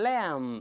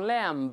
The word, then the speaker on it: lamb: 小绵羊 lamb 都是 lamb，不能读 lamb，那 b 不发音。